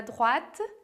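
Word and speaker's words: droite: falar go depois a drat que a pronúncia de drat você tem que lembrar que o oi vai fazer som de A então a gente vai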